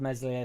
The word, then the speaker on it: Meslier: He ain't a bad second keeper, to be fair, but I'm glad Meslier Silent S is here.